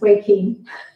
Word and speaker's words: Joaquin: Okay, so it's not Joe Quinn. I apologise. It's Way Keen. I just didn't pronounce it correctly.